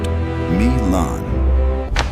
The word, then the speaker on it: Milan: Machiavelli watched this pattern destroy the Duke of Milan, pronounced Me-lahn.